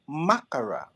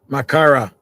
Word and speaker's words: makkara: Makara. Makara, Makara. not Well, you makara. know, Makara. Makara. You have to pronounce all the words, all the letters.